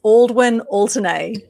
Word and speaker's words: Aldwyn Altuney: way you say it by the way it's aldwin alternae all the way and alternate okay and the